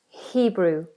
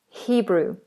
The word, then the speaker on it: Hebrew: Be careful with the H that you don't constrict it. We don't say Hebrew, Hebrew. In many languages, the H is constricted. In the UK, in English, it's not. Hebrew, Hebrew.